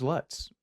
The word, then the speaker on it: Lutz: and I hate George Lutz it's cosmically hilarious his name rhymes with putts yes because like the